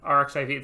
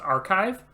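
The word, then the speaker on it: arXiv: actually so instead of rxiv it's pronounced archive the x is actually the greek letter chi yeah yeah so because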